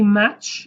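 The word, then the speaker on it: maç: verb means match K Okay match kin basically match means kiss match means kiss it's exactly the same pronunciation as m a h in English match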